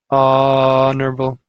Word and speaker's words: honourable: and eggplant right eggplant and honourable because the H is silent very good this one